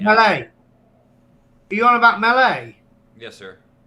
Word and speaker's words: melee: Are you on about melee? Yes, sir. As in fighting, it's melee because it's from French. So we say it as in the French word, it's melee.